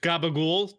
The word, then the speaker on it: capicola: not Italianate what gobble-gobble-gobble-gobble capicola I have no idea which is pronounced gabagool to the North Jersey and Brooklyn Italians it's too fatty I